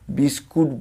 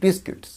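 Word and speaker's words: biscuits: যে সুইটস এটা candy, British ইংলিশে বলা হয় বিস্কিটস, বিস্কুট, বিস্কুট বলবো না, এটাই বারবার উচ্চারণ বিস্কুট, ওটা উচ্চারণটা হবে কি বিস্কিটস, বিস্কিটস।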